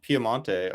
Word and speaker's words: Piemonte: I think Piedmont and Piemonte are both correct. It's a difference of languages.